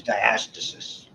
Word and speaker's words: diastasis: Okay, fancy name for the split, diastasis. Pronounced sometimes diastasis.